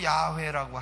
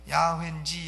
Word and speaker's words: 야훼: 하나님이시구나 하나님의 이름은 여호와이시구나 어떤 분은 뭐 야훼라고 하는데 야훼인지 여호와인지 우리가 하나님의 이름은 정확한 발음은 야외라고 하실 분은 하시고 그럼 우리에게 성경에 여호와라고 기록되어 있으니까 우리는 그냥 여호와라 하겠습니다 하나님의 이름이 누구십니까 여호와